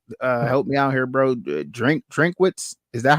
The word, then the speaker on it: Drinkwitz: Drinkwitz. Is that how you pronounce it?